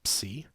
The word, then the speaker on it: psi: And although we always say psi in English, the correct Greek name is psi, which rhymes with 3.